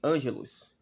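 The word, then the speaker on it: ἄγγελος: sobre esse seja primeiramente a palavra Ângelo Ângelo ela está no grego se pronunciasse Angelus que significa o quê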